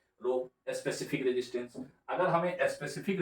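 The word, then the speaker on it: ρ: यहाँ पे एक सिंबल आ गया जिसको हम लोग बोलते हैं, ये जो है इसको प्रोनाउंसिएशन किया रो, और इसका नाम होता है रेजिस्टिविटी।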